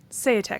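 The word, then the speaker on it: Seyetik: While noted scientist Gideon Se, how do we pronounce his name? Seate. Seate, thank you.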